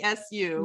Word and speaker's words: MASU: Is it pronounced MASU or MASU? MASU.